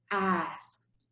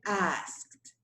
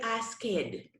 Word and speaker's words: asked: this you pronounce it asked like as if it has a little t at the end okay that's how you pronounce it asked you do not say ask it that would be incorrect